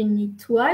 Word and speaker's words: nettoie: Ici, O, I, E, tu prononces OUA, je nettoie la cuisine.